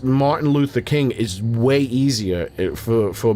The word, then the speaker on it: Martin Luther King: For me to say Martha Luther King, that's it takes effort. My there's too much muscular uh transitions to do that. Martin Luther King flows. Martha Luther King does not flow.